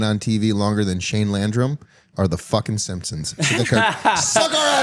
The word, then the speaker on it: Landrum: Landrum. Landrum. Is that not what I said? No, that was mine. You had that accent on the first part.